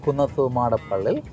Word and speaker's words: Kunnathumadappilli: my surname and that you are right is kunafa monopoly I I am proud to say that many